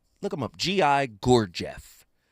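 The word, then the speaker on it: Gurdjieff: There's a guy by the name of Gi Gorgf. Look him up. GI Gorgf. I'm going to say it again because I'm saying it correctly.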